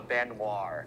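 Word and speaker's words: Baignoire: I can't pronounce this all the time. It is called the Benoir.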